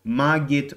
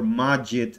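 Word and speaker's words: Magit: and this package is called maggit or magic again depending on how you pronounce it or another nimble tool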